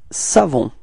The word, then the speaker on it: savons: It's nous, and then we've got this nous savons. Repeat. Nous savons. Okay, final S not pronounced as usual, so you've got the final on. Okay, that's the sound you get at the end.